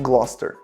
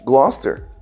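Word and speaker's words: Gloucester: Gloster termina com Sester. C E S T E R, né? Sester. Todas as cidades que terminam com Sester, eles pronunciam ster.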